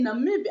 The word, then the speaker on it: Namibia: Yeah, guys, I said in my other videos, I feel like they don't say like the way we pronounce Namibia. We just actually say every simple syllable. but they don't. They just say, they say Namibia, as long as, I would say as if as the I doesn't exist.